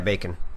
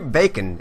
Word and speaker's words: Bejcon: I'm talking to Bejcon on Skype, so it's I know it's pronounced Bejcon, right? Yeah, Bejcon. Okay, cool. I wanted to make sure. How would you pronounce it? The food. No, I wasn't there actually, but I figured it would be Bejcon. As in the food.